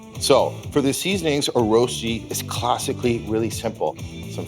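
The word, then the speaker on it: Rösti: R O S T I. Pronunciation roasti meaning super delicious potato dish from Switzerland. It all starts with a russet.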